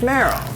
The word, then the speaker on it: Meryl: famous person worked on which rhymes with cheryl and it's merrell merrell merrell meaning street